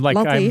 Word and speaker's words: Latif: Because I'm pronouncing it the Yemeni way. To pronounce it the Yemeni way. I'm Latif. excited about you pronouncing it the Yemeni way. Because it's used heavily by Yemenis. Latif.